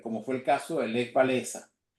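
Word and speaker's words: Lech Wałęsa: fue el caso de le balesa en polaco se pronuncia le guena Premio Nobel de la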